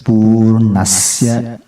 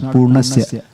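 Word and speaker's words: पूर्णस्य: Here's Purnasya. It's not Purnasya.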